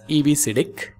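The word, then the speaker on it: EBCDIC: coded decimal interchange code it can be pronounced as EBC now coming to the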